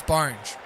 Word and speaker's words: Borange: 4 runs, and that boundary is sponsored by favourite sponsors proud of Sporting Woods podcast, Borange. If you need something that rhymes with orange, you better believe it's Borange.